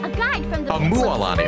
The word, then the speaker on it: Mualani: moani oh hey I'm muani a guide from the a muani okay that's how you I've been saying it wrong this whole time all of that land